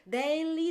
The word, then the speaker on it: Daly: Daily, Daly. Yeah, I get yeah. Daly a lot, but it's Daly, yes. Daily, without the I.